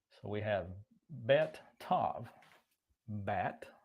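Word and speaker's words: בת: Bat, I think is the way that's pronounced.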